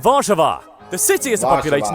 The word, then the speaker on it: Warszawa: Poland's capital and largest city is Warsaw, which in Polish is pronounced Warszawa.